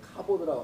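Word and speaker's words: כבוד: 카보드라고 합니다. 같은 자음을 발음만 다르게 하면 카보드 이렇게 읽으면은 이게 영광이에요.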